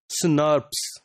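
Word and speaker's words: snRNP: proteins SN rnp or normally they are pronounced as snars these this spos is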